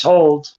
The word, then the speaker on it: HODL: Another one is how they pronounce it, I guess, is HODL token, but we pronounce it as hold.